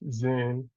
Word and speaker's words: Zen: And then lastly, we have Zen, which is the Japan, which made its way to Japanese to Japan, and Chan is pronounced Zen in Japanese.